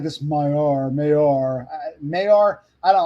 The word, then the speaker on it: Maillard: Maillard. Okay, so the emphasis is on the first syllable. Maillard.